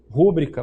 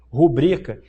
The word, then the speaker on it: rubrica: Quantas vezes a gente vê um advogado falar o quê? Rúbrica. Mas o que está previsto na gramática? Rubrica.